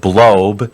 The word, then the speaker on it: Blob: And it was run by this lady whose name was Charlotte Blob, but her name is spelled B-L-O-B, like blob, which, of course, somebody with the last name Blob is going to be interested in space.